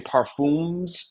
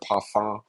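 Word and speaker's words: Parfums: is worth following if people are saying parfumes de Marley they're saying it wrong they might not be experts to pay attention to or to listen to they might have entertaining awesome videos but if you are not taking the time out to know how to say the word paron not parfumes it's literally like it's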